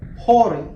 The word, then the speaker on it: Hori: or I guess as it's supposed to be pronounced, Hori.